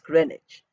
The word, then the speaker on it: Greenwich: we say Greenwich meantime it is written as green witch pronounced as grenage so we learn the